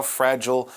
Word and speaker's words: fragile: make you realize how fragile life is. Fragile, this adjective can also be pronounced fragile. Some people say it that way.